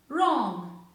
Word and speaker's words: wrong: who whose rap right wrong have w in the beginning but it is not pronounced with what it is silent here so in these cases